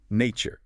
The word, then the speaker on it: nature: Natur exactly the same mechanic. It is not becomes that unvoiced sh sound. Nature.